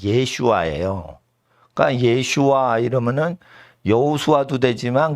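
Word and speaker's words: ישועה: 마의 나의 예수시라 근데 예슈아 발음은 어 그리스로 예수스 예수라는 그리스어 발음의 히브리 발음이 예슈아요 그니까 예슈아 이러면은 여호수아도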